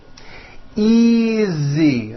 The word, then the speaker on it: easy: those are my books easy again the S is like a voiced Z easy this is